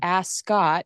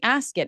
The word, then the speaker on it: Ascot: like wait am I I'm saying ask it. Am I saying it wrong? Are you No, you're absolutely right. I cannot create you know it's ask it is like a cut, right? Is ask as cut, right? You're ask I'm saying it correctly. Do not say ascot.